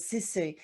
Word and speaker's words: sisu: So another question, you had mentioned prior to the hygge, when we spoke before we started recording this, was sisu.